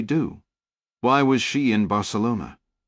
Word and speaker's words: Barcelona: Why was she in Barcelona? She pronounced it with the soft C, the way an American would, not the Castilian lisp.